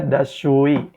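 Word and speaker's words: دستشویی: Dibacanya dashui, dashui.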